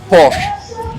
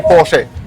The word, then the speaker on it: Porsche: So, the Germans would say Porsche. Porche. Correct. So, this is icons of Porsche event. Porsche. Okay. So, even I was saying it wrong.